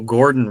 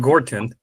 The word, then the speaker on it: Gordon: welcome I go my name is Gordon not Gorton but so sometimes it